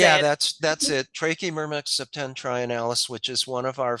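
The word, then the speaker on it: Trachymyrmex septentrionalis: Trachymermex septentrionalis, which is one of our few local fungus farming ants.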